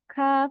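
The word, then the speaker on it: كاف: Mungkin seperti huruf kaf dan qaf. Nah, itu mereka beda tempat keluar huruf. Jadi penyebutannya pun beda. Kalau kita salah menyebutkan, mungkin terbalik, kita harusnya menyebutkan kaf, tapi kita bacanya seperti qaf. Nah, itu akan merubah arti dari ayat yang disampaikan.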